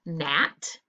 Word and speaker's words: gnat: The word gnat, we underline the combination and we cross off the silent letter. Which letter is silent here? The G. Very good.